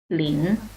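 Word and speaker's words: 林: Ini nama bacanya Lin ya, Lin.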